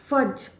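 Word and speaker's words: fudge: अगर डी भी इसके साथ में जुड़ जाता है तो हम इसको ज ही प्रोनाउंस करते हैं, ज। इसमें डी जो है वो साइलेंट रहता है, तो ये हो जाएगा फज।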